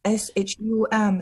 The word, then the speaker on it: Shum: So that's why I don't know how to pronounce Chinese names when they're there in front of me. My family name is Shum, S-H-U-M, so that should be Shum.